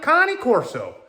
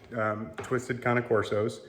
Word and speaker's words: Cane Corso: We adopted her from Twisted Cane Corsos. I'm gonna look up how to say it before I keep talking. All right, Cane Corso, that's how you say it.